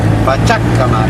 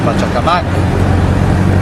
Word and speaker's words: Pachacamac: We pass Pachacamac, I think it's pronounced, or Pachacamac, which are the ruins of some ancient civilization which I need to polish up on.